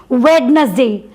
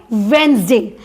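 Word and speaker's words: Wednesday: जैसे वेडनेसडे, वेडनेसडे नहीं बोलते हैं, इसको लिखते हैं हम वेडनेसडे, लेकिन बोलते कैसे हैं, वेंसडे।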